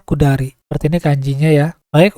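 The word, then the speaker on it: 下り: Jadi cara bacanya kudari.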